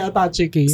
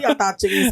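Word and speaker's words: attaché case: Pero yung kasi yung tawag natin, attache case. Si mama kasi attach case kasi ang tawag niya sa ano niya. Yung Pero mga... ang alam ko ang tamang pronunciation, attache case. Hindi siya attache case.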